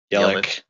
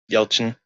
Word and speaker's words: Yelchin: big person then Anton yellow the only Yelchin Yelchin sorry that's how it's pronounced yeah that was sudden